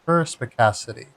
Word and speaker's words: perspicacity: I don't know if that's a soft C or a hard C. Right, it's represented in IAPA with a K. So I'm guessing that's a hard C. So perspicacity.